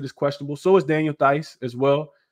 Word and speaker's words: Theis: So is Daniel Theis as well. Theis is how you pronounce it.